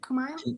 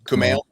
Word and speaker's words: Kumail: Is it Kumail? Kumail.